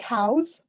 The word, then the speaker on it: House: last name is pronounced house just like a house right i mean technically it's more like house like how's it going i also work for